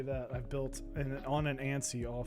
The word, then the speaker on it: ANSI: Let's just say that I've built on an ANSI all 5 times. So, or ONSI. I know some people pronounce it ONSI.